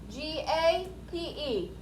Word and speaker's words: gape: number three is gate g-a-p-e gape it is a verb so it's an action like mudder the e makes that a a long a sound so we say it like gape and it means to